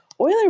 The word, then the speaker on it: Euler: By the way, I know his name looks like Euler. It's not pronounced Euler, it's Euler. A lot of people get that mixed up.